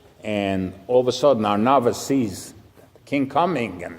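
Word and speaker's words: Araunah: There's actually a debate how to pronounce that name, Arunya or Arnava. You know which one is the correct way? Arnava.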